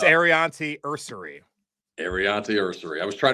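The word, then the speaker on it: Aireontae Ersery: It's Arianti Ursary.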